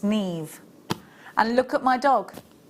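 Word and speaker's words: Niamh: her name's actually Siobhan you might be calling her neem her name's Neve and look at my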